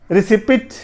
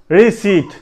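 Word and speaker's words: receipt: Fifth, پانچواں ہمارے پاس ہے ریسیپٹ, ریسیپٹ, یہ کیا, آئیے دیکھتے ہیں. آر آئی ری S double E ٹی سیٹ, ری سیٹ, ری سیٹ, ریسیپٹ نہیں پڑھنا, ٹھیک ہے, ری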